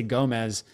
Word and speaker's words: Gomes: Yeah, because whenever I used to say it when I was younger, I say Gomez, and they would write it with a Z, and so I'm like, oh, I gotta pronounce it differently. Oh, okay. So I chose that pronunciation.